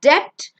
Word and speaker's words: debt: Debt. It's not debt, it's debt. Debt. Be silent.